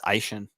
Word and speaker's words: Etienne: as their flex, and Etienne as their flex. It's actually, I believe it's Aishan. That's how he pronounces it.